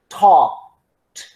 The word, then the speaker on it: talked: so when when okay here we have wah talked talked what okay so the pronunciation is pronounced that k but don't open